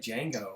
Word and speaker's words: Django: The action isn't part of Janet's The D is silent, man. It's like Django.